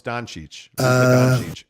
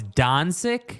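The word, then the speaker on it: Dončić: not that hard and actually I think the proper pronunciation I got chastised for this way back okay now it's Don sick that's the proper pronounce Gonzaga exactly come on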